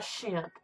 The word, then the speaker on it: Shemp: they called him shim because his mother you know pronounced his name and it would sound like champ somehow so and then you